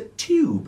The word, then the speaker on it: tube: It's not a tube, it's a tube with a T. Not a tube with a CH.